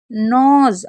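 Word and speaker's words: knows: क्या पढ़ेंगे, इसको पढ़ेंगे नोज। अब नोज क्यों पढ़ रहे हैं, क्योंकि देखिए, पहली बात तो के एन साथ में होता है तो के साइलेंट रहता है, और ओ डब्ल्यू को ओ पढ़ते हैं।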